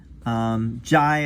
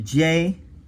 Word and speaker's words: Jai: Jai as opposed to Jay, although it's very common to say J, but it's more like Jai or Jaya.